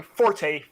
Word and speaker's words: forte: If it is GIF, all y'all motherfuckers need to start pronouncing Forte Fort, because that is the original pronunciation.